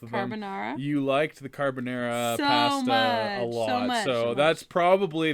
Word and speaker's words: carbonara: garlic mac and cheese carbonara yeah that is the correct answer yes carbonara carbonara carbonara how do you say that carbonara is that what I said caribbeanery oh my goodness peppered